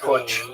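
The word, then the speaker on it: Putsch: The business plot called the Wall Street push was uh the White House push.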